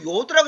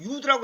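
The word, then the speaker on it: יוד: 사람도 두 사람 하여튼 다섯 사람한테 배웠는데 다 요드라고 읽어요. 근데 또 요즘에 어떤 데 보면 유드라고 했더라고.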